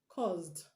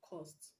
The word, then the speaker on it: caused: have caused caused cause the s in cause is pronounced z enough is not cause you caused me to do it no it's you caused me to do it you caused me to do it caused not cost so the last sound